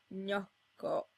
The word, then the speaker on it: gnocco: Note that the G is silent in both these cases.